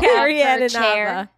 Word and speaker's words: Carrie Ann Inaba: How do you pronounce it? Carrie Ann Inaba.